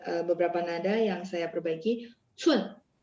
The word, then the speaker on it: 寸: Cun, cun itu dia C, jadi bacanya ada angin.